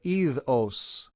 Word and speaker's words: idos: This time you keep the D. Normally you drop the D. In this case with ir, you're going to keep it. Idos.